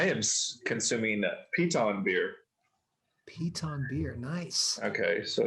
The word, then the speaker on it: Piton: you consuming i am consuming pita and beer piton beer nice okay so it's piton right okay yeah excellent and they have started